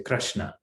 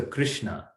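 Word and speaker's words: कृष्ण: So in Gujarati, we say ra, like we use it suhrad. Or Krishna, for example, we say Krishna. But it's, right, in Sanskrit, the pronunciation is r. So Krishna or suhrit. So that's the difference.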